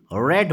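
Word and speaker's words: read: तो ये हो जाएगा लेट the book B रेड बाय हिम, रीड का प्रोनाउंसिएशन हो जाएगा रेड।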